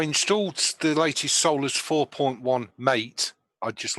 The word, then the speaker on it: MATE: So I installed the latest Solus 4.1 Mate. I'd just like to clear that up, Mate. Mate, not Mate. No. Mate rhymes with a latte.